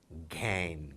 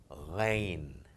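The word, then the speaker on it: غين: Obviously you would be tempted to read it as Gain, Ghana. But no, it's not Ghana, it's not Gain, it's Ghain.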